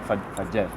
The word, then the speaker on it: Fetges: Que hem descobert que es diu Fetges, o sigui, s'escriu Fetges en francès, però en català es pronuncia Fetges.